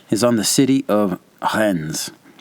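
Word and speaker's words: Reims: on the city of Hens. R E I Ms. Hens. There is an M like Mike in the word, but you say more of an N like November in the pronunciation.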